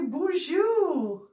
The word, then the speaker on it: Boozhoo: Hey, everybody, BOOZHOO. BOOZHOO, did you know that in Ojibwe, when we want to say hello, we say BOOZHOO, which sounds suspiciously a lot like French.